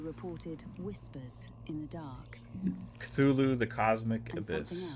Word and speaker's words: Cthulhu: This first one is, I pronounce it CTH ULHU, the Cosmic Abyss, coming to PS5, Series X and S, and PC this Thursday for $49.99.